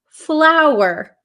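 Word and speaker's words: flour: F lur okay so these are both pronounced exactly the same so don't worry they're both pronounced flower flower so f l w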